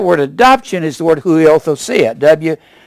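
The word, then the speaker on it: υἱοθεσία: That word adoption is the word huiothosia. It's pronounced a W. Huiothesia.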